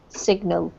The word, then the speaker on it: signal: one here though is signal with a hard G signal signal yeah if it's with when it's sign it's a no do tool but this one particularly is signal okay any questions guys